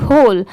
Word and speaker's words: whole: भी होल पढ़ते हैं, HOLE होल, और WHOLE होल, दोनों को सेम प्रोनाउंस करते हैं, ठीक है।